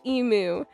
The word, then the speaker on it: emu: And it is emu. You pronounce the u in it like the letter.